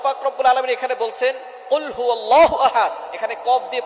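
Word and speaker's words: قُلْ هُوَ: আল্লাহ পাক রাব্বুল আলামীন এখানে বলছেন কুলহু আল্লাহু আহাদ। এখানে কফ দিয়ে পড়ছেন কিন্তু অনেকেই ভুল করে উচ্চারণ সঠিক না হওয়ার কারণে তারা পড়ে কাফ।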